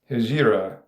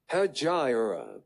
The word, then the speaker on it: Hijra: Hijra. Hajira. I was saying it wrong. Hijra.